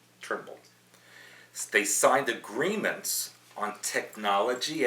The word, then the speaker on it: Turnbull: Netanyahu and Turnbull, it's funny because when Trump hung up on him, he called him Trumbull, and his name is Turnbull. That's, you know, but I'm being very careful to say it right. Turnbull.